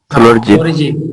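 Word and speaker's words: phloridzin: फ्लोरिजिन, फ्लोरिजिन, D silent है, फ्लोरिजिन, है ना?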